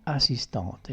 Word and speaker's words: assistante: Attenzione ai finali dei nomi, ci sarà un video su questo, non si pronuncia la E ma si pronuncia la consona quando c'è la E dopo.